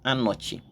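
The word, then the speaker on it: אני: word I have in mind is Ani is pronounced Ani in hebu Ani now when I looked into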